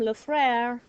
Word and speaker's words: le frère: one on the bottom, le frère, like the song, Frère Jacques, Frère Jacques. This means brother. So write brother on the left side of it, okay, where you have room there. Le frère is brother.